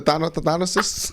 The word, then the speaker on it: Thanasis: The Thanasis.